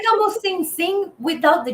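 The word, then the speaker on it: sim: Sing. Oh, it is C. Okay. Okay. Our M's and N's? There's a Yes. or N. We just Oh, sing. So it's sing. scene. It's Wow. like That's almost sing without the G.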